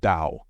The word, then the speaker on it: Tao: In Lao Tzu's philosophy, this unity is called Tao. Although it is written Tao, in Chinese it is pronounced almost as if it were spelled D-O-L.